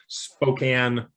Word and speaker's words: Spokane: David Gracon from Spokane, Washington. I pronounced Spokane right, I think. Proper pronunciation of Spokane, yes. It's not Spokane.